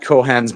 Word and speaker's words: Cohan: I'm going yeah it's incredibly quaint um Pat cohan's bar is there it's pronounced Cohan um yeah melino f um but